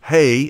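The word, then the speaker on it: ה: means life and hey pronounced hey h-e-y means behold so behold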